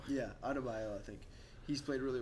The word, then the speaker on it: Adebayo: And then, how do you pronounce his last name? He's from Miami. Bam. Mm-hmm. Bam, I think it's Adebayo. Yeah, Adebayo, I think.